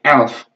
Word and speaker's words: elf: nyebutnya F bukan tuh jadi yang ini 11 bacanya Elf yang terakhir adalah Sule